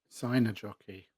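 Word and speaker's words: Seinäjoki: Sign a jockey.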